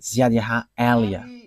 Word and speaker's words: Ziad Elia: And that is not a Malagasy name, but that is the name from us, and that is my name, so I pronounce it as my father pronounced it, Ziad Elia.